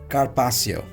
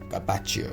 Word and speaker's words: carpaccio: Next, Carpassio. The pronunciation of this is carpaccio, right? Some people say carpaccio, some people say carpassio.